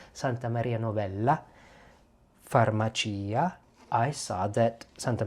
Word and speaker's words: Santa Maria Novella: 1200s, Santa Maria Novella, I should say it like the Italians, Santa Maria Novella, Farmacia, I saw that Santa Maria Novella had Carta d'Armenia.